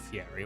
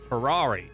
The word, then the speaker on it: Ferrari: It's not Fieri. What is it? Ferrari. That's how you say the word.